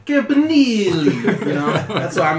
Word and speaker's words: Campanile: You gotta say it like Either Italian. way. You gotta go Campanile. You know, that's why I'm gonna be like, "Hey, Coach Campanile."